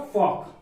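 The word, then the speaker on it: folk: तो हाँ यहाँ पर एल साइलेंट है क्योंकि के पहले आ रहा है। यदि डी एफ के एम कोई भी वर्ड यदि इन वर्ड के पहले यदि एल आता है तो वह साइलेंट रहेगा।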